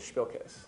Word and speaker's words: Spilkus: And Fredo does a comic book called Spilkus. So, excellent pronunciation. Thank you. What's the word from? It's Yiddish, and it means pins and needles, nervous energy. Nice. Like somebody has Spilkus, you really don't want to be around them.